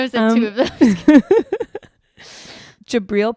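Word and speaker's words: Jabrill: in two of those jabriel Peppers that's how you say it yeah jabril Peppers jabril Peppers came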